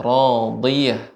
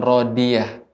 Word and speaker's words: راضية: 6 sampai 11 yaitu pengucapan huruf ya dha ya radiyah bukan radiyah radi ya. Huruf dad ini diantara sifat yang sudah kita pelajari adalah sifat itbaq, terkumpulnya suara. Jadi tetap harus tebal.